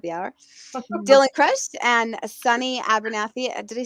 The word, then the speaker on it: Sunny Abernathy: Dylann Crush and Sunny Abernathy.